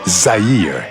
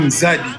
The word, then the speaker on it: Zaire: christened the country as Zaire in 1971. Zaire was a name that the Portuguese mispronounced instead of saying Zadi, which means river. Zadi, in their ears they heard Zaire.